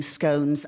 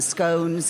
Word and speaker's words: scone: now I love making scones I too call them scones and not scones because you don't say bonss you say bones anyway I like making